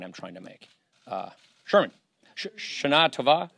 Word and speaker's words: Shana Tova: Sherman, Shana Tova. Shana Tova. Shana Tova. 3% Jewish. Let's pronounce it correctly.